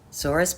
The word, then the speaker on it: Sora: how how Mooney would say her name with a soft s and a gently rolled R she felt sad about